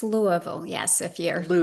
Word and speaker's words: Louisville: It's It's Louisville. Yes. If you're Louisville, right? And so the next town over is spelled the same called Lewisville.